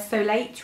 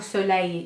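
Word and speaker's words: Solait: It's their Solate range, and or Soleil, you're probably supposed to pronounce it, aren't you, as in sun, but it's their dark tanning mousse, which looks like this.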